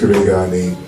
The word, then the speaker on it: Karega: My name's not the alien from Space City, but he was having a hard time pronouncing my name. My name is Karega.